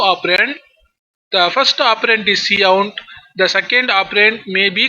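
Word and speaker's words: cout: called C out so C UT should be pronounced as C out that identifies monitor as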